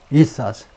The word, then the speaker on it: ethos: 발음이 ethos.